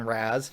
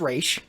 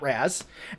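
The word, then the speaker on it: Ra's: and he's like I read the file on Raz he's this and this and this and he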